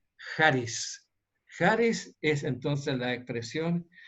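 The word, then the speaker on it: χάρις: A veces en los libros se encuentra escrita con H-A-R-I-S, pero yo prefiero mejor pronunciarla como con J, charis.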